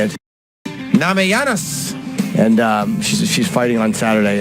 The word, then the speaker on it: Namajunas: Namajunas.